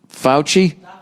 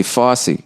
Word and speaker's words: Fauci: um all right nia how do you present pronounce f-a-u-c-i fouchy i was gonna say fosse who's dr fauci i